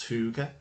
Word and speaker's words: hygge: I think it's pronounced hygge, which is the idea of sitting around or